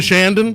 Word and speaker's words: Chandon: Chandon. I just got correct. I was saying it wrong, and I was saying it kind of very very cork dorky. Like, Yeah, there you Domaine go. Shandon. What the heck? Like Yeah. we're here in Shandon.